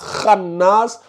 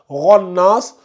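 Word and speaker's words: خناس: Mais tant que tu ne me liras pas khannas, on n'avancera pas d'un iota. Voilà ma méthodologie. C'est comme ça. Quand quelqu'un me lit avec des fautes, on va répéter jusqu'à ce que ça rentre. Donc demain encore, si tu me lis ça, ronnas, on va rester là jusqu'à demain matin.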